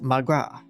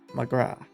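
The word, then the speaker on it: mo ghrá: wish for my love one dialect pronounce it as magra magra it's got an achievement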